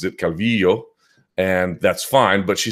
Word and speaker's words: Calvillo: do it's never happened and so yes she pronounces it Calvillo and that's fine but she said she understood